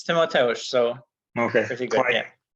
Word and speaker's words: Timotheus: So please, Timotheus, tell me that I pronounced it correctly. Yeah, it's Timotheus.